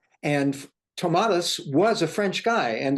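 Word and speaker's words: Tomatis: Tomas I say Tomas it's like you know it's like tomato it's like Tomas and in French I understand that it is pronounced in my French is terrible tomati and tomadas was a french guy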